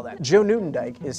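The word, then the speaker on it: Nieuwendyk: clear oh sorry i should spell that joe newton dyke is spelled n i e u w e n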